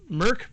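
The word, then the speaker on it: Mörk: recently, and that is Mork Borg. I know it feels like it says Mork Borg on the cover, but I've been assured that it's actually pronounced Mork Borg.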